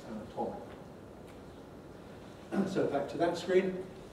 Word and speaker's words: anatomical: anatomy, to me, unstressed, but O in the strong not vowel in anatomical, where it's stressed, anatomical.